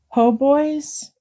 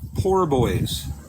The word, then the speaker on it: Po' Boys: I just heard a lady on the local radio station yesterday call it Poor Boys. What? There's no R. There's no R. There's no R. Po Boys.